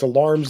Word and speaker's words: alarums: and we we kind of have all that in the book yeah a lot it's it's spelled like alarums but it's alarms and excursions yeah that was that